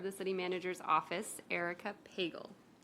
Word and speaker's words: Pagel: City Manager's Office, Erica Pagel. It sounds like bagel, but with a P.